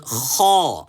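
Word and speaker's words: خَ: Kha. Come on, kha. So let's put a fatha on this. How do we pronounce it now? Kha. Kha. This is not g or g or whatever. Kha.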